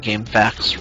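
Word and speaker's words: GameFAQs: And I was like, I tried to go to GameFacts, but there's nothing there. And he said, no, Game FAQs. And I just thought he was crazy for pronouncing FAQs as facts.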